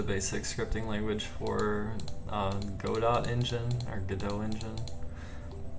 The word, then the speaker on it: Godot: scripting language for uh godot engine or godot engine i think it's pronounced go dot actually go down